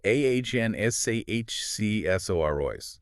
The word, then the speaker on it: Anasazisaurus: Yes, it's generally pronounced AhnsaHcsorois.